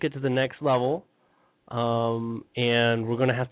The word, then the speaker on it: You: My name is U. That's spelled Yo U.